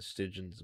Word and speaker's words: Stygian: So I got a Latreon, Furious, Rajang, and Stygian's Ogre. I'm bothered by the fact it's pronounced Stygian. I always thought it was Stygian.